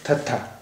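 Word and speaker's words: ਥੱਥਾ: ये लकीर नहीं होती थी ऊपर, ये है थत्था। आइए थत्था से, इसका उच्चारण हिंदी के था जैसा है।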